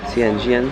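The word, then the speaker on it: Yuanyang: The bus leaves in about 10 minutes to Yuangyang, that's how you pronounce it.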